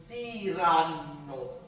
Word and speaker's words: tiranno: So make sure you're pronouncing tiranno, right? And then doubling and spending a little bit more time on the double consonant.